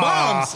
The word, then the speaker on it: BXMBZ: Yeah, he goes, it's Bombs. I was like, bro, it's Bombs. Yeah. Oh, okay. So tell me about your name. So basically, it was Bombs first, BOMBZ.